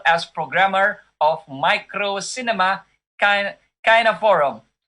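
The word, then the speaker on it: Kineforum: programmer of Micro Cinema Kina Forum. Am I pronouncing it correctly? I hope so. It's pronounced Kinoforum. Kine Forum.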